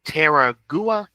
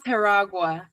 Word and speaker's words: Teragua: Um, artistic vision and Terraua. It's okay. It's It's pronounced Teragua. Teragua. Okay. Teragua.